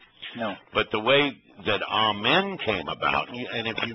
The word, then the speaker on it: amen: I said, well, it really wasn't pronounced amen. It was amen.